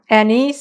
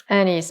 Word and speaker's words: anise: going to add one teaspoon of anise extract anise some people pronounce it i love i love love annie's my my mother would make uh pizzelli's for